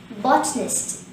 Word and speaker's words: botanist: adjective form for bottling the word watchness has three syllables but a nest the first syllable bot is stressed and there is one showing this word hence the current pronunciation will be botnest botness in conclusion a